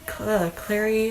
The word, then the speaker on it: Clary: This is a spin-off series of that, but there's the Mortal Instruments, which follows um Claire Clary Clary Fairchild, I believe is how you say her name.